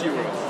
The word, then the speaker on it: gyro: I thought euro was food. What do you mean? I thought it was Greek food. I can't get it. I thought euro was Greek food. Greek food? Yeah. It's spelled like gyro.